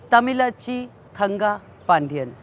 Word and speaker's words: Thamizhachi Thangapandian: young MP's name is a bit difficult to pronounce correctly but she's happy to decode it for you so here it is Tamila chi kanga pandyan real name Sumathi she is a person of